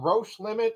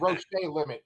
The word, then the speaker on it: Roche Limit: as far as comics go he's written uh roche limit am i pronouncing that right nailed it yeah nailed it okay cool someone said roach day limit in like an interview and i was like